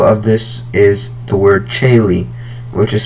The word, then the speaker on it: tjaele: So one example of this is the word Chaile, which is spelled TJAELE. Chaile. So as you can hear at the beginning, we have the Ch sound that's spelled TJ. Next we have the Sh sound.